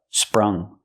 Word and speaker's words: sprung: a new coat pronunciation use the short uh like cup and up spr spr sprung sprung for he finally